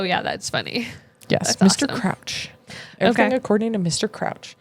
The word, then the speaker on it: Crouch: Is it Crouch? Oh, C R O U C H like you crouched on the floor.